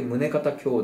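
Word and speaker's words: 宗方姉妹: 胸兄弟ですね宗方姉妹と書いて宗方兄弟と読むあとナルセみきの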